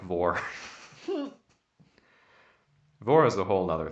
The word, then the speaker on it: vore: Vor. How do you spell it? VORE, like carnivore, like eating.